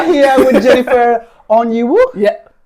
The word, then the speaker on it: Onyeiwu: last name because it actually caused me to pronounce it. Oniwi. Perfect. Oh, beautiful. That's perfect. So, shall I start again? If you want here with Jennifer onu.